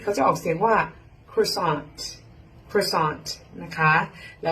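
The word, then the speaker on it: croissant: แต่ ภาษา อังกฤษ เขา จะ ออก เสียง ว่า cron cron นะ คะ แล้ว ก็ อัน นี้ cake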